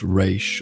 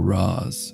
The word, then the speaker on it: Ra's: Whether pronounced Raish or Ra's, it translates to head of the demon, a title that proves frighteningly appropriate.